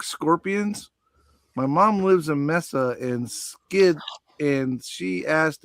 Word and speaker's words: Mesa: My mom lives in Mesa and skids and she asked if they bark. LOL. Okay, so that's actually pronounced Mesa.